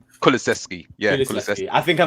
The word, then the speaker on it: Kulusevski: So in effect, what we've probably done is we've overpaid for how can I pronounce his name? Okay, Swedish forward. Kulusevski. Kulaszewski, yeah, Kulaszewski.